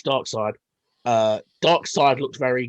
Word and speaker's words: Darkseid: side looks very good i always feel like it should be pronounced dark seed but it's dark side uh dark side looked